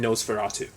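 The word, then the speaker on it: NOS4A2: for a two but it's like a fancy way of spelling Nosferatu um like I was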